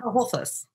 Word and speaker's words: Holthus: You don't pronounce the T? Holthus. Holthus. Oh, it's like the Spanish thing. Holthus. Holthus. No, Holthus. Holthus.